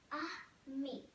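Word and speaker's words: ami: book a me friend in French you say it like this a me Belle beautiful in fren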